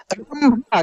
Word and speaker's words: रंभा: च है और बिंदी है, यानी म के रूप में उच्चारण हो रहा है। यानी चंपा आप ऐसे भी लिख सकते थे, चंपा। रंभा, क्या लिखा है दोस्तों?